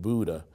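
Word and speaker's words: Bodø: experience it was a place called Buddha Norway b-o-d-o but they pronounce it Buddha um and we were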